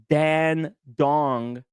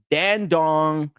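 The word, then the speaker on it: Dandong: So uh developed with Dan Dong and that's right. I I did not mispronounced it. Dan Dong, it's a Chinese manufacturer there.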